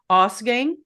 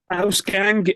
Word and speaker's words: Ausgang: guest, Mark of, and let me hope I'm pronouncing this correct. You just said it right now, but I'll say it again. Ausgang or Ausgang. Yeah, absolutely. Ausgang is the way I personally.